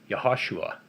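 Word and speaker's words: יהושע: later about another day joshua's name in hebrew is pronounced yahushua then moses would return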